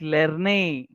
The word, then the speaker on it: lerne: पण जर्मनने काय सांगितलं, लास्ट लास्ट में अगर जर का ए ई है तो ई का प्रोनाउंसिएशन आप अ जैसा कर सकते हैं. And that's why आई am saying इश लेर्न. पहला ई है उसका ए, और लास्ट का जो ई है उसका अ. तो my pronunciation is very nice, इश लेर्न.